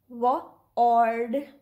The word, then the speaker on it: word: The first word is this. If we pronounce it according to its sounds, so it will be W-ord, word. But we say it either word with ER, word, or word.